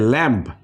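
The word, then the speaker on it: lamb: দেখি এখানে এখানে আসছে ল্যাম্প ল্যাম্প ল্যাম্প ল্যাম্প সো এখানে কিন্তু এমটা বি এর আগে আসছে এই বিটা পড়া হচ্ছে এটা ল্যাম্প আমরা কিন্তু ল্যাম্প পড়তেছি ল্যাম্প এরপরে আছে বোম বোম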